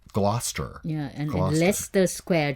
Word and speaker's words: Gloucester: that like of the town that looks like Glaus Esther it's actually pronounced Gloucester yeah and one Leicester Square to Le I